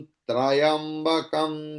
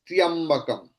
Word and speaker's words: त्र्यंबकम: इट्स त्र्यंबकम, इट्स नॉट त्रयंबकम। त्र्यंबकम, like मूर्धन्या, clear? So it is not मूर्धनया, no, it's not trayambakam, it's मूर्धन्या, मूर्धन्या, मूर्धन्या, मूर्धन्यादित्यास्तिष्ठन्तो।